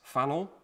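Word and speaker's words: Pfannl: invented by austrian franz fano fano with a p which is silent if i if i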